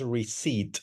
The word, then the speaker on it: receipt: Notice that I pronounce receipt. La letra P no suena, receipt.